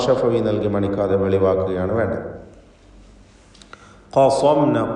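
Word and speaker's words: قصمنا: ഖസംന, ഖാഫിനും സ്വാദിനും തഫ്ഖീം നൽകി സ്വരഭാരത്തോടെ ഉച്ചരിക്കണം.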